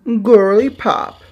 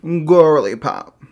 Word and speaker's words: Gworly Pop: Introducing Gworly Pop. Yes, you have to say it like that. Gworly Pop.